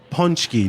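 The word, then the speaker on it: pączki: are talking about and I'm sure you might correct my pronunciation if I get it wrong uh punchki day actually you did very good actually I was expecting to hear something different but you did great punch for longtime listeners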